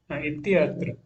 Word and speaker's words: इत्यत्र: इत्यत्र इत्यत्र तहादा या पूरा बोलिए, इसको प्रोनाउंस कीजिए। इत्यत्र। हाँ, नहीं, थोड़ा आपको जोर देके बोलना चाहिए। इति प्लस अत्र सुनाई दे रहे हो, आपको बोलना चाहिए इत्यत्र।